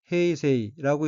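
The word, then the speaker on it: 平成: 참고로 쇼와 다음의 연어는 한자로 평성, 일본어로는 헤이세이라고 읽으며 1989년부터 2019년까지 사용했습니다.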